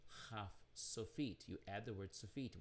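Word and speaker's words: kaf sofit: dot it is called not cough but a kh sound or transliterated ch but pronounce and when it's at the end of the word it's haf sophiet you add the word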